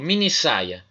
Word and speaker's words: minissaia: que acontece por exemplo minissaia ameni termina com e saia começa com essa então junta tudo mas junta e tem que dobrar o s minissaia com dois s porque senão o que